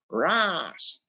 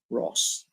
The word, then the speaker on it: Ross: even my own name the way the Americans say is Ras it's not Ras my name is Ross that's how you proun